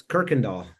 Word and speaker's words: Kuykendall: I never I never actually pronounced your last name. It's Kirkindall.